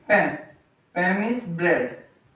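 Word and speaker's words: pain: Pen. Pam is bread. In English we say bread but in French we call bread pen.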